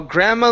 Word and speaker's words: grandma: the is unpronounced uh the gr the D in this word yes grandma Grandma we don't pronounce the d but we do need to pronounce the gr okay her while Grandma